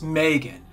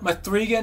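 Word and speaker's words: M3GAN: And if you're at all familiar with Mithrigan, I know it's Megan, but they spell it Mithrigan, and damn it, I'm going to pronounce it exactly as they spell it.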